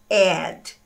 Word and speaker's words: ad: a o apelido de advertisement é ad, OK? Que é o mesmo som também do verbo adicionar, né?